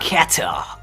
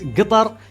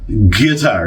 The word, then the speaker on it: Qatar: end of the day I really hope that you can pronounce Qatar as guar because that's hyper local and will appreciate it okay are we straight now uh guar that's how I pronounce